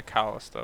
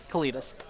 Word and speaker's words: Kalitas: And a Callista, which just stops the combo cold. You mean, Kalitas? Kalitas? Cletus. What did I pronounce it? What's the actual name? Kalitas.